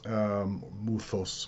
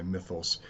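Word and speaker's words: μῦθος: term to consider is mythos muthus more or less correctly pronounced but we'll say mythos in english and this is in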